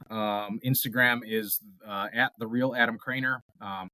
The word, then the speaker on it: Kroener: Instagram is theal Adam Craner um k r o n r um don't try to phonetically sound that one out um and so Adam